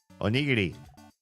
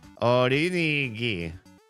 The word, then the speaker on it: onigiri: Or they can't pronounce it. Onigiri. Orinigi.